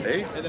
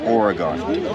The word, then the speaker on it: Oregon: Oregon, well pronounced. Right? Oregon. Oregon. There we go. Not Oregon.